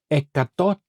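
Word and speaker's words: εκατό: Now ecato ecato this is how you pronounce percent in Greek ecato is 100 ecato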